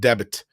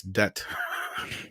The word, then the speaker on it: debt: Yeah, don't pronounce it debit. It's debt. I know it's dumb, but what can I say?